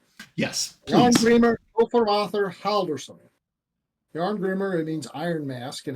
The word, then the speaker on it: Jarngrimr: say the name yes joh greamer forur Howers yarn Grimmer it means Iron Mask and it's a normal